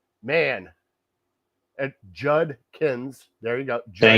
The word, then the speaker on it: Judkins: There's a D in there. I think that D is silent, but anyways, throw out the D, add an N and a K, and he got it.